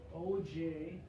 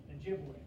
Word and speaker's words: Ojibwe: Okay, different spelling, pronounced the same though, Ojibwe.